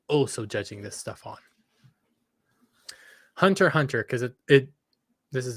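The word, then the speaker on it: Hunter x Hunter: judging this stuff on Hunter Hunter because it it this is an anime thing I know there's an X there the x is silent putting in a detour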